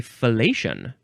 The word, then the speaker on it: fellation: It could also just be fellation. I did not know that. Fellation. So the main word is spelled Fellatio, but you pronounce it fellatio or fellation with an N. You just put an N at the end, I guess.